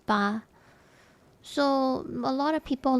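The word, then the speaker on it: 八: and you're okay for 8 it's a lucky number because 8 means fa fa means prosper and the pronunciation is very close to eight in Chinese which is ba.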